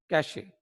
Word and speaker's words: cache: कैशे, CACHE, कैशे या कैश memory भी बोल देते हैं इसको. तो बहरहाल ये इस वक्त हमारा डिस्कशन नहीं है प्रोनाउंसिएशन. तो बहरहाल कैश मेमोरी या कैशे मेमोरी ज्यादा बोला जाता है.